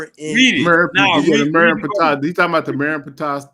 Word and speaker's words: Merenptah: It was in the Nefertah stele, which is spelled MERN. Read it. Now The read Merenptah.